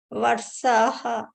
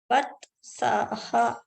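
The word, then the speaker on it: वत्सः: Vatsaha. Vatsaha. What? Ta should be heard. Vatsaha.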